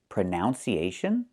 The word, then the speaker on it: pronunciation: The word is pronounced pronunciation. We see the letter U there between the N's, right? That's a short sound like cup and up. Pronun, pronun. So the two first vowels are the same sound.